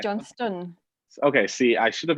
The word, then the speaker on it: Johnstone: Is it Johnstone? It's not. Annoyingly, it should be, but it's pronounced Johnstone.